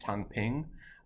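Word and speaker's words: 躺平: So in China, there's a movement called lying flat or lying down, which is I believe pronounced Tang Ping, and it's a similar sort of thing.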